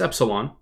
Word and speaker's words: Epsylhon: but if I were I don't know how to say his name correctly called Terra or Epsilon eselon EP Epsilon okay it's Epsilon if I were Epsilon